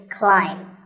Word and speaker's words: climb: see on the screen the a i is an i sound not an a sound so the word is climb by the way what's